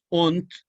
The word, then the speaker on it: und: Und, se escribe und con D, equivale, vean ustedes, al inglés end.